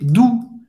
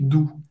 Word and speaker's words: doux: Le temps est doux. Il fait doux. Doux. Ou, lembrando, tem o som da letra U em português. O X não vai ser pronunciado. Então, agora, acho que eu vou mudar aqui meu emojizinho.